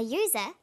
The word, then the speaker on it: user: an umbrella but a user because user sounds like it begins with a y ah and an are